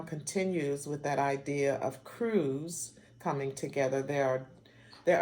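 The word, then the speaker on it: krewe: joined together and became Crews and I'm spelling the word crew with a k k r e w e and so these Crews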